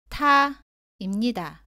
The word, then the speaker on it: 타: 다음은 다, 따, 타입니다. 모두 다와 발음이 비슷한데 따는 다보다 세게 발음하고 공기가 나오지 않습니다. 타는 다보다 공기가 많이 나옵니다.